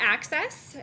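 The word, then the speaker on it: AHCCCS: called the arizona everyone's healthy system um we pronounce that access and our children's health insurance program is a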